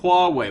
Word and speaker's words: Huawei: It's Hua, as in Hua, Hua, Hua, and Wei as in go that way.